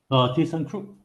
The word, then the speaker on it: ThyssenKrupp: Sebelum tu Encik Wong, boleh saya tahu tak macam how to pronounce this company how to pronounce this? ThyssenKrupp.